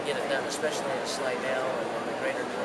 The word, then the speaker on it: Slidell: So, in Slidell, is that how you pronounce it? Slidell.